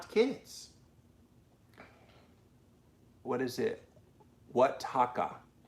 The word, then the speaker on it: Oaxaca: Oaxaca. Oaxaca.